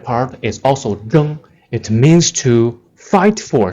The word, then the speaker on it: 睁: Z-H-E-N-G, the first tone, 睁, it means to open, 睁眼.